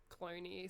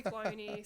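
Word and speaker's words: Cloonee: up there it's like it's c l o o n e e so I think it's even pronounced like cloney so I'm probably doing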